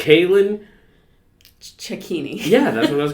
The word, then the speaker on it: Cailin Cecchini: towards the event I should have got your pronunciation of your last name uh it's Kalyn ceccini yeah that's what I was gonna say you're